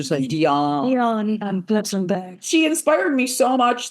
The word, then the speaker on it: Diane: Actually, her pronounces it Deion Bonfirst. She doesn't call herself Deian, she dion.